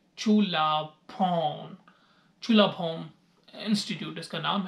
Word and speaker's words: Chulabhorn: तो मैंने उससे पूछा कि हाउ we will pronounce the name of this university. तो इसका नाम बनता है चुलाभोम इंस्टीट्यूट, इसका नाम है।